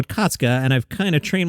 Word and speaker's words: Okatsuka: by the way, and her last name is pronounced Okatsuka, which is good because that's how I've been seeing it. I'm not sure I always get it right, but I usually say Atsuko Okatsuka, and I've kind of trained myself to do it.